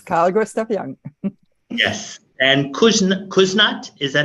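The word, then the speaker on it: Küsnacht: And Kuznat, is that how you pronounce it? Kuznat, yes.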